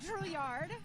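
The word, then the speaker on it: Drouilard: Can I start just by getting your name and spelling you want to do Drillard. And Don, how do you spell that?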